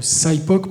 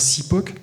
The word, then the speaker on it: SIPOC: Lean qui s'appelle le SIPOC, prononcé à à l'anglaise, où on peut dire SIPOC, veut dire Suppliers, Inputs, Processes, Outputs and Customers.